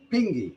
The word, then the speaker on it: pingi: People, well, that's people but pronounced in a Seminole way. Pingi.